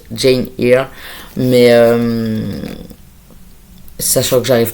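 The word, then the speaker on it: Jane Eyre: Alors, je l'ai vraiment prononcé à la française avec Jeanne R. En théorie, c'est plus Jane ear.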